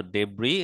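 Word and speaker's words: debris: মনে রাখবো জিনিসটা তো ডেব্রি এখানে কিন্তু এস উচ্চারিত হবে না তাহলে কনকয়ারিং মানে উইনিং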